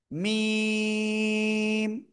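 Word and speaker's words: م: এ অক্ষরের নাম কি মিম চার আলিফ টেনে পড়বো আমরা এটা দুই ঠোটের শুকন জায়গা থেকে এরপরে শিখেছি আমরা এ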